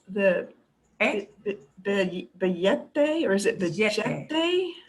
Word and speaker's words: billete: Okay, yeah, that double L. It can sound, that double L, there's any range of sounds that the double L can make. From y, like a Y, to j, a little j. If you're down in Argentina, it becomes a very strong billete. I don't suggest you do that because billete people will think you like learned in Argentina.